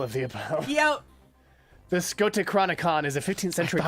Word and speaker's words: Scotichronicon: The Scoticonocron, The Chronicon. something I learned today, is a Scotichronicon.